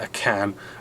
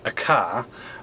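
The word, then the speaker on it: AKAN: It is actually um pronounced a can and um spelled aka an not pronounced a car and spelled ak a h.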